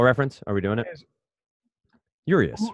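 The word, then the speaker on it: Urías: it like a true American uras yeah right uras let me let me just get to the bottom of this so baseball reference are we doing it urious right what Urus Urus yes are you uus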